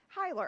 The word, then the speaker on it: Hyler: Hyler. Oh, just how it looks.